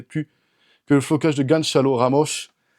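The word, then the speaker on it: Gonçalo Ramos: que le flocage de Ganchal Ramosche. Là je l'ai dit à la portugaise, c'est comme ça qu'il faut le prononcer.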